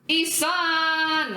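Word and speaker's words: Ihsahn: You're gonna need to pronounce this dude's name for me because I'm not that familiar with him. Isan.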